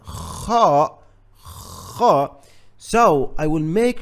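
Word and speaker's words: خ: So guys, kha comes exactly from the top of your throat.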